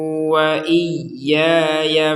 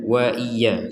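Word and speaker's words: وإياي: Di sini yang perlu diperhatikan ada tasydid. Tasydid itu artinya kita harus menekan di huruf yang di atasnya ada tanda tasydid seperti ini. Jadi tidak sekedar wa iya wa iya. Kalau wa iya berarti enggak ada tasdidnya itu wa iya.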